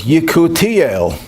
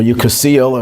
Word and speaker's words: Yekutiel: The name that his mother gave him was Yekutiel. You ever heard the name Yekutiel? Or Yekusiel in this Ashkenazi pronunciation?